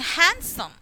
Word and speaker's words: handsome: d is silent and handsome handsome noddy there do not say the sound of d next here column condem